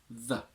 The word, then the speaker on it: the: The strong form and the name of this article is the with a long E. It has two weak forms, one with a schwa, the, if it's followed by a consonant, the pear, one with a short I if it's followed by a vowel, the apple.